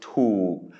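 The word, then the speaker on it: ถูก: So tu, it's a high-class consonant with a long vowel but then a stop final, which means it is a dead syllable, which means it is a low tone.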